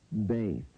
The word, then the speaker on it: Bet: Beyth. Beyth.